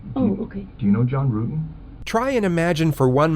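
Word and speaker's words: Ruetten: John Rutten? Rutan. The investigators already knew how to say John Rutten's name correctly.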